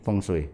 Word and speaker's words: feng shui: seorang praktisi bungsu praktisi feng shui feng shui feng shui bacanya fengshui selama ini saya tanya feng